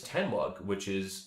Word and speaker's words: Tenwug: But because of stuff like that, an encouragement from Matt, really, I started a YouTube channel under the alias Tenwug, that's how you pronounce the acronym TNWG, which is the Northwest Gamer.